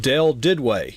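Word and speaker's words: Del Duduit: His name is pronounced Del Didway. Now, it is not spelled anything like that, but we will get into how to connect with him on Twitter.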